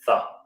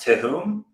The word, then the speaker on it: Thumm: a solar guy um my last name is thumb so it's pronounced i guess we pronounce it thumb originally my family came over from germany a long time ago i don't really know that much about it i just know that originally it was pronounced to whom but then americans they all mispronounced it my grandpa was like